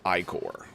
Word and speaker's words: ichor: I don't think I've ever heard it pronounced Icor.